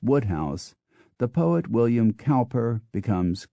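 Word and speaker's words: Wodehouse: Anthony Powell becomes pole PG Woodhouse becomes Woodhouse the poet William cper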